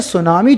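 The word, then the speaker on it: tsunami: तो देखिए सुनामी जो शब्द है वो ऐसा लगता है इसकी स्पेलिंग होगी टी से शुरू होता है, पर सुनामी अंग्रेजी वर्ड नहीं है, जापानीज वर्ड है।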